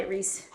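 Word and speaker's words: Rhys: They were like, Reese told me that when you met him, you were like, are you Rice Jones? His name is spelled R-H-Y-S. And I was like, are you Rice Jones?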